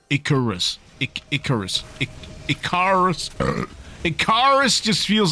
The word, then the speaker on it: Icarus: Oh, what the So, is it pronounced Icarus or Raicharis? Definitely Icorus.